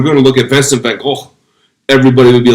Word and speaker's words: Van Gogh: quite often, but Vincent van Gogh's name isn't pronounced Vincent van Gogh. It's actually pronounced Vincent van Gogh. But we don't pronounce, it's a Dutch name.